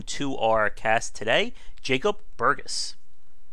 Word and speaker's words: Burgess: So, please welcome to our cast today, Jacob Burgess. Burgess, actually. Burgess, I'm sorry. No, that's okay. It's a soft G for a soft man, and a very common mistake.